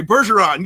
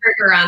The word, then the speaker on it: Bergeron: but often when I say it with a French accent, people go, well, that's kind of weird. So yeah, okay, Bergeron. Yes, so perfect. Americans say Bergeron. It's terrible.